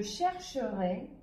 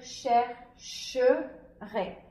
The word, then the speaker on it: chercherai: les syllabes et dire chercherai. Le E se sépare du R et on va le prononcer comme un E muet, et ici on va prononcer le R avec le AI.